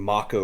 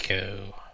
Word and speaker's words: Mako: I, I've also noticed that I've been pronouncing Mako wrong for 23 years. Mako. I pronounced it Mako my entire life, but it's apparently not how it's pronounced. The Mako reactor. The Mako reactor. Mako sounded a lot better, really. I think so, but whatever. Every time you see Mako, just go and put a little E in there.